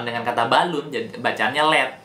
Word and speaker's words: Led: Nah, untuk membuat kata ini lebih mudah ditafsirkan oleh orang-orang yang mendengarkan, jadi mau nggak mau kata LEAD ini diubah menjadi LED doang. Jadi sehingga siapapun yang membacanya pasti bacanya LED.